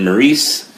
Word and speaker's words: Maryse: Bella are going to face the Miz and Maryse.